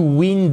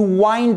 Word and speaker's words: wind: Alright, attention, ce n'est pas to wind up. Non, c'est to wind up.